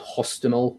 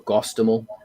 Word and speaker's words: Hostomel: airbase outside of Kiev called Hostomel or Gostomel, depending if you take the Russian or Ukrainian pronunciation of it.